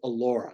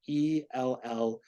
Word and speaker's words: Ellura: that you can buy over the counter called Allura. That's spelled Ellura.